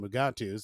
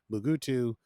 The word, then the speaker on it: Mugato: be reading up on mugatu's and this is where bormler points out that bugattis there's like several pronunciations for them there's mugatu mugutu mugutu gumatu and apparently a few